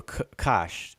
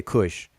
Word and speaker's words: Kush: big red um sphere over kosh as this as it's properly pronounced conventionally i should say pronounced uh we say kush this is where kush